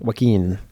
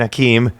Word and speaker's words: Joaquin: Joaquin? I'm going with Hakeem. That's like a Joaquin? Joaquin. Not Hakeem. It's like Joaquin. Joaquin.